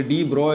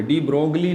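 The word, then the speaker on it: de Broglie: ब्रोग्ली भी कहते हैं लोग कुछ गलत प्रोनाउंस करते हैं यह दी ब्राय है दी ब्रोग्ली नहीं है ठीक है पार्टी कल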